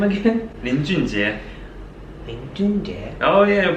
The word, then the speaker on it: 林俊杰: Lin Junjie. Oh yeah, your pronunciation is very good.